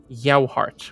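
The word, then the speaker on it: Yohart: I I forget I should have written a pronunciation guide alongside the names I wrote down uh it is a professor yoart which is ye o h a r t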